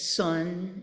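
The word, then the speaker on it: 선: of and in fact uh in Korean it's Sun um we use the Japanese pronunciation Zen and in Chinese it's Chan and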